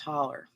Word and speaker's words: hollow: me up April ride it's spelled Hollow but it's pronounced holler Nikki said I kind